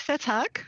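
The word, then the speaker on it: Vethaak: Dick Vetak, is that how he says it? Yep, very close. Vetak.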